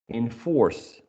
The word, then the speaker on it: enforce: Enforce.